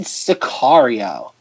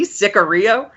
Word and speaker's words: Sicario: So the movie this week is, drumroll please, 2015 Sicario, directed by Denis Villeneuve, who everybody probably knows from Arrival, Blade Runner 2049, and Rob's favorite film of the last decade, Enemy.